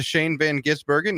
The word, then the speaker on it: Shane van Gisbergen: in NASCAR the exfinity series win went to Shane Van gisbergen yes that's right that's how you pronounce it it's not that difficult NASCAR on